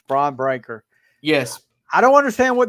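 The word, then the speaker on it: Bron Breakker: Gunther or however you say his name it's braon breaker yes I don't understand what they're doing with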